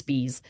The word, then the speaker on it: Spies: August spes or spay it's spelled spies but it's not pronounced that way and now I'm I'm having a hard time remembering how it's pronounced right I think it's Spees later testified quote I